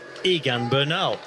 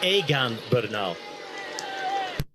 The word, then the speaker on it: Egan Bernal: one was in English you would pronounce it just look at it and say Egan Bernal it's aan beral and it's a name